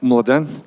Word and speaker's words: Mladen: My name is Mladen, that's the right way to pronounce it.